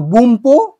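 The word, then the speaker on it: 文法: দেখাবো আমি লিখেছি বুনপো বুনপো কিন্তু উচ্চারণ হবে বুম্পো বুম্পো কেননা এন পি এর আগে এসছে তাই এই এন টা ন শব্দে পরিণত হয়েছে সরি ম শব্দে পরিণত হয়েছে তো বুমপো মানে হচ্ছে গ্রামার ব্যাকরণ আরেকটা শব্দ তোমাদের দিয়ে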